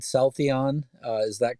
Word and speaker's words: Celltheon: on yeah so did uh um did I pronounce the company's name right so I think I said South Eon uh is that correct exactly that's right all